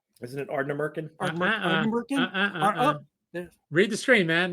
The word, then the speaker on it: Ardnamurchan: Ardnamurchan. Can we emphasize the con at the end, like Shatner?